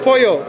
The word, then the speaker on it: pollo: Apoyo and pollo. It sounds very similar. Pollo. Pollo loco. Apoyo is with the Y-O, and then pollo is with the double L.